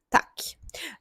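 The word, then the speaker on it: tack: Тут дуже важливо, що ми не тягнемо звук о, тому що talk - це буде стеля шведською мовою, а ми вимовляємо дуже коротко, роблячи акцент на приголосній к к.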